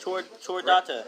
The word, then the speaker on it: Chordata: Chordata. It's a mammal. Chordata? It is a CH, How did you get motherfucker. That's Yeah, not it's ch. pronounced cool. CH is pronounced like a K.